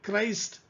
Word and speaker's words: Christ: Then Christ, see here the same CH, but here it is coming as K sound, Christ.